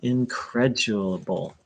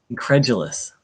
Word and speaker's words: incredulous: not used very often don't be increduble i'm not saying it correctly sorry incredulous there it is and don't be gullible